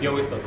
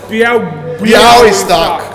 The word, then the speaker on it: Białystok: How do you pronounce this town, the name? Białystok.